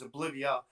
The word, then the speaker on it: Oblivea: And the proper pronunciation is Oblivia for the Oblivia.